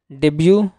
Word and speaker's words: debut: डेब्यू first appearance on stage are इन any event. अब देखिए T silent यहाँ पढ़ेंगे, डेब्यू, ठीक है, यानी पहला प्रदर्शन।